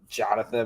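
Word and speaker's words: Jhostynxon: and his name is it's supposed to be like Jonathan, but it's spelled like JHOSTXYN.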